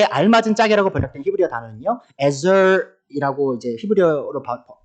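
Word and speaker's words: עזר: 이 세 번역에 알맞은 짝이라고 번역된 히브리어 단어는요, 에저이라고 이제 히브리어로 발음이 되는데, 이 개역 개정에서는요, 돕는 배필이라고 번역되기도 합니다.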